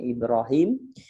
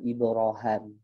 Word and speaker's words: Ibrahim: Ya ada yang bacanya Ibrahim ada yang bacanya Ibrohim ya kemudian ada nakal